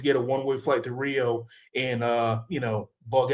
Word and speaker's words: Rio: I I tell guys when I see gringoes here in Rio, that's how you pronounce it. Hio in Portuguese.